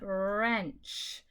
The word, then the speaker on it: wrench: WR, you do not pronounce the W, just the R, and it says wrench.